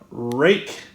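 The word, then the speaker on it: Rike: Also, I bought this knife here from Rake. I know it sounds weird to say it like that, but that's how they said you pronounce it.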